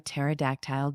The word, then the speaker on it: pterodactyl: "I'm bored," and Jackson asked, "Why can't you hear a pterodactyl go to the bathroom?" I shrugged. He says, "Because the P is silent."